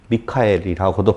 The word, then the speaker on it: 미가엘: 왜냐하면 옛뱀이라고도 하고 마귀라고도 하고 사탄이라고도 하니까 잘 알겠는데, 미가엘의 존재는 도대체 누구냐라고 하는 거예요. 미가엘 아셔요? 미카엘이라고도 발음을 하고 그러는데요.